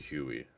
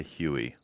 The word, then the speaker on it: Hayu: I always say Hayu, but it's actually Huey. All right, Huey. I will say Huey.